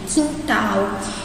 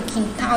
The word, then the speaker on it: quintal: No caso aqui do quintal, a gente não fala quintal, a gente fala quintal. De novo, é como se esse U nem estivesse aqui.